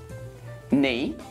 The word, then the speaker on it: knee: Now, here are some words when we don't pronounce the K. Knee, knife, night, knit, knob, knock, not, no, and knuckle.